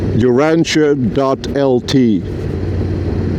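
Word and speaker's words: Urantija: posted on my website uranchia.lt. Uranche is spelled like u r a n t i j a uranchia.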